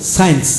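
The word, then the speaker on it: science: অতিরিক্ত দেওয়া হলো যেমন সায়েন্স সায়েন্স এখন সি উচ্চারিত হবে না যেমন ফ্যাসিনেট ফ্যাসিনেট এখন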